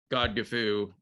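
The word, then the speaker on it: Godgifu: i should mention that god gifu is the old english pronunciation and spelling of lady godiva's name so this is god gefu when she's only 18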